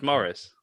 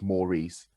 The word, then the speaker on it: Maurice: a series of films is morris pronounced morris maurice a-u-r-i-c-e it's maurice yeah it's more recent yeah